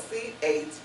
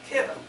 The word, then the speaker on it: Chittim: I've said it myself, chittim, because that's what it looks like, but it's pronounced kittim.